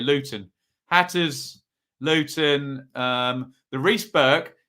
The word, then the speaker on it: Luton: I must pronounce my T's here. Luton.